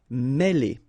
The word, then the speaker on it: mêler: Okay, remember, accent circumflex here on the top of E, and it will give you the sound E, really opened, okay? Mêler.